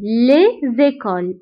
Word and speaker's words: les écoles: Les écoles. Les écoles. فهنا كاين la lettre S ولكن ما قريتهاش. Pourquoi? لأنه هذا non pluriel. Les écoles. المدارس. Les écoles. Donc, هاد S نتاع pluriel ما كنقراوهاش.